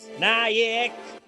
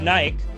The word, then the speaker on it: Naik: It's just like Vidit Naik. I know his name is Vidit Naik. Actually, sometimes I don't know how to pronounce Naik. Sometimes I'm like Naik, not Naik. I think it's Naik.